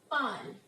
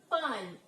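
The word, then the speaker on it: parlent: So the pronunciation would be like this: il parle. Now here ENT would not be pronounced, it is silent. And elle parle.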